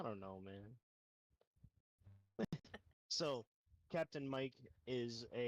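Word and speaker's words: Miiyk: to pronounce his name it's spelled Mi i y k Mike Mike that's right so it's just a weird spelling of the word the name Mike but so compc I don't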